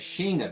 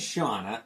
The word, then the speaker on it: Shanna: As a young reader 20 years ago when this came out, I always said it as Shaina the Sheevil, but it is Shauna.